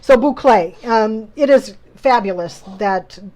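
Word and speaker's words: bouclé: it out phonetically okay boucle i got to remember that b-o-o-c-l-a-y right that's not how you really spell it but that's how you pronounce it so correct so boucle um it is fabulous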